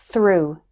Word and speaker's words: through: the word cough and finally it's pronounced like ooh in the word through error number 164 ea